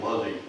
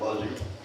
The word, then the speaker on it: Luzzy: And I'd just like to say that the correct pronunciation is usually Luzzy. That I believe that's how most people with that last name in the area pronounce it, Luzzy.